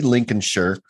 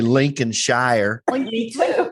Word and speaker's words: Lincolnshire: was born in grimsby lincoln's shirt because that's how they say it i would say lincoln shire lincolnshire like mike is